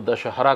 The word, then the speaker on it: दशहरा: मान सकता हूं इसको क्योंकि यहां के जो लोकल थे या मूल निवासी थे वो दशहरा का उच्चारण शायद ना कर पाए हो इसलिए दस राहा बना दिए तो वो द दस राहा या दसरा ऐसा करके वो उसको शॉर्ट फॉर्म